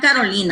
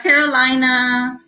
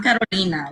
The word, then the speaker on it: Carolina: gonna roll their r's i know they're not gonna pronounce it the way i pronounce it but um at least try at least have the respect for my name it's like me i'm carolina i'm not carolina i'm